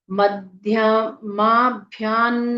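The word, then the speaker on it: मध्यमाभ्यां: कृत्याय देवासुर नमस् कृताय मध्य माभ्यान नमः मध्य मा भ्यान आगे त वर्ग है तो आधा भ य में आ की मात्रा अनुस्वार का उच्चारण न की आधे न की तरह मध्यमाभ्यान नमः विसर्ग का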